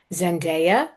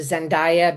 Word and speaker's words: Zendaya: And I apologize if I go back and forth to Zendaya because that's what I always used to call her and then I heard somebody specifically call her Zendaya. I'm like, oh, I've been saying it wrong.